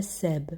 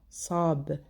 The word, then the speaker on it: sab: Deuxième remarque, pour le S de sab, c'est un S emphatique, c'est pas seb, sa, pas ça, sab.